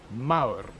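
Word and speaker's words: Mawr: area formerly wild Hills Maur ma WR it almost rhymes with Gao recently it was the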